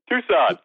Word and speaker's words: Tucson: can't say that word what is it Tucson Tucson what I was like I haven't read that word because it's spelled tuxen I'm like what the